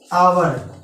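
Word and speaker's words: hour: अब 1 घंटे के लिए हो जाएगा एन आवर। दोस्तों यहाँ पे कुछ लोग 1 आवर लिखते हैं, 1 आवर नहीं लगेगा क्योंकि ये आवर ये साइलेंट है।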